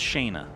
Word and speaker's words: Shana: kind of a thing the American language pronounced it's pronounced Shana here's a fun fact